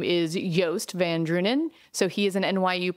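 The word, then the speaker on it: Joost van Dreunen: favorite newsletters that I get if you just spell it it's super Juiced but actually how you say his name is yast van drunen so he is an NYU professor and if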